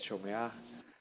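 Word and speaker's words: שׁוֹמֵעַ: No vamos a decir shomea o shomea, no. Es shomea, moshe, shoné, no, no sé. ¿Sí? Siempre el acento va en la última sílaba, a excepción de que ya encontremos un acento.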